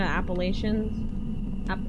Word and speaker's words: Appalachia: Especially in like West Virginia, Appalachian Appal Appalachia. I forget how you're actually supposed to pronounce it.